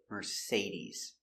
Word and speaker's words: Mercedes: Say we pronounce the second syllable say. Mercedes.